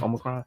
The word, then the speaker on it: Omicron: Is that how you pronounce it? Yeah. Omicron.